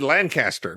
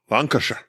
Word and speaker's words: Lancashire: I will say you said Lancaster, basically, is what you just said. Nobody who's American can pronounce that. Lancashire.